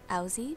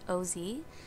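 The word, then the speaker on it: Owsey: It was something by Coma, and it's spelled Owzy, but it's pronounced O-Z, and he has a lot of great music that I hope to be playing for you guys. So he's really great. It's spelled O-W-S-E-Y, and it's pronounced Ozzy, so go check him out.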